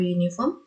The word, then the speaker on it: uniform: Tahu uniform? Seragam. Uniform. Oh, mana? Ya. Ini kita pakai a atau an? Di sini u itu memang vokal. Tapi cara bacanya uniform. U, y. Y itu konsonan.